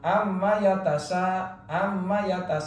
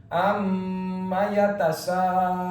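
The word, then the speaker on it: عَمَّ يَتَسَاءَلُونَ: Jadi membacanya jangan dilangsungkan, jangan amma yatasa, tapi ditahan dua harokat. Amma yatasaalun.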